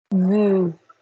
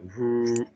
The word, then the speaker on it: vous: So could you please say for me, vous? Vous. Is the vibration coming up here? Keep it down there. Vous. Vous. That's it. It'll work.